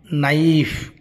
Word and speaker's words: knife: विषय कहली के what the word begins with the letter K but it is pronounced as कौन knife KNIFE knife knowledge KNOW